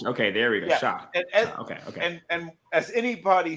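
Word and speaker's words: Shough: Slo uh, they how do I pronounce that? Uh, Bill Tyler Shock. Tyler Shock.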